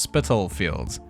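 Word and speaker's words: Spitalfields: Yeah, thank you to the several comments pointing out it's pronounced Spittlefields.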